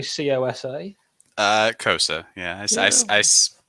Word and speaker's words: Kosa: Kosa. Yeah, I pronounce it.